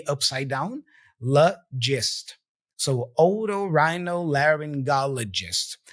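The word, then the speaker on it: otorhinolaryngologist: again the little e upside down list so oo Rhino laryngologist it's a tough word usually we don't use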